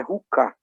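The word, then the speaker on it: חוקה: Estatuto, essa palavra no hebraico é ruká. Eu não sei se a pronúncia é mais aspirada ou menos aspirada.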